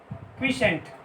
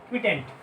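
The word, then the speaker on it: quotient: ये आपका रिमाइंडर बच गया, ये आपका क्वोशिएंट आ गया। हाँ, इसको क्या बोलते हैं रिमाइंडर, इसको क्या बोलते हैं क्वोशिएंट, क्वोशिएंट क्विटेंट, क्वोशिएंट पढ़ते हैं इसको हम लोग।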